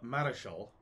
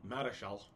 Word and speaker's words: Marischal: And a fellow named William Keith, who's the fourth Earl of Marischal. Probably Marshall is close to how it's pronounced. Marischal.